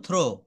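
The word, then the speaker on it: throw: আমরা কি বলব থ্যাংক টি এইচ আর ও ডবলিউ এটাকে বলব থ্রো থ্রো শব্দের অর্থ হচ্ছে নিক্ষেপ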